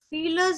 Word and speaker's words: viele: Die Kinder hatten viele Süßigkeiten. Wie ist pronounced as für?